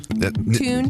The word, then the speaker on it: Thune: Is that how you say it? Tune. You pronounce Nick perfectly. Yes. We got Nick in the house, everybody. How do you say it? You said it right, Nick Thune.